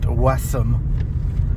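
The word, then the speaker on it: Wesham: There's another town near Blackpool called Wam, which is actually pronounced Wessam by the locals.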